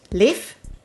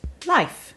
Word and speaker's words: Leif: a number of ways so apparently in sweden finland and the more western parts of scandinavia this name is pronounced leaf as in sort of like the same pronunciation of safe and in some parts of scandinavia this name is pronounced life and if you are an english speaker you can go ahead and say leaf as in the homonym of like leaf as in leafs on plants and all are generally